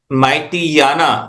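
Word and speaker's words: Myitkyina: एक जगह है जहां पर उसको बोलते हैं माइटी याना आप उसको स्पेलिंग चेक कर सकते हैं एम वाई आई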